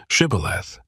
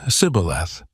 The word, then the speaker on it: shibboleth: According to the biblical account, the Ephraimites struggled to pronounce the word correctly and instead said sibboleth.